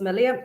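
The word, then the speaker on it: milia: Oh, Marie Mullen is saying, just on Anne, could you ask if you have melia around your eyes? Did I pronounce that right? Melia, yeah.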